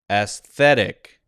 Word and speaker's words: aesthetic: this time aesthetic okay now it thinks I need to say uh instead of ass that's interesting because I did say more of an aesthetic instead of an aesthetic now I think it's Up For Debate they have an us sound here I usually I maybe I'm used to saying this word as aesthetic instead of aesthetic but they want me to say aesthetic as a schwa sound so all right all